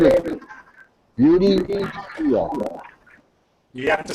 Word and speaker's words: Beauty: Her name is Beauty. Yeah. You have to spell that. Beauty. Oh, Judy. Beauty. Judy. No, not Beauty. Like, like, Julie. no, Beauty. Beauty. Like beautiful.